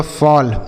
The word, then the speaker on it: FALL: आगे लिखा है FALL, तो एफ से पढ़ेंगे फॉ, ए के बाद बच्चों अगर डबल एल लिखा रहता है किसी भी शब्द में तो उसका उच्चारण अ होता है।